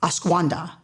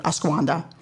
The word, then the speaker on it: ashwagandha: has, I had to practice this word, it's ashwagandha, which, I looked it up and when you look up the little pronunciation, those little lips tell you. So I repeated it like 30 times, ashwagandha.